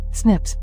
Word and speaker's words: SNPs: single based DNA differences snps single nucleotide polymorphism pronounced as Snips occur in humans this information promises to revolutionize